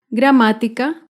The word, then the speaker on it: gramática: con la palabra gramática gramática se acentúa en la ante penúltima sílaba gramática otro claro ejemplo es